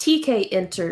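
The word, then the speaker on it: Tkinter: know you've been programming some things in uh tickenter is that how we pronounce it i had to look that one up again too it's apparently pronounced tk enter and i've heard about it for a while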